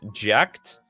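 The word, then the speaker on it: Jecht: It's actually pronounced jacked like ejected.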